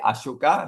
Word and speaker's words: Ashoka: So Sanskrit, Ashoka, they will pronounce as Ashok. Aegon, Ashok, Ashoka, Ashok. So this is Sanskrit. You take Ashoka, become Ashok.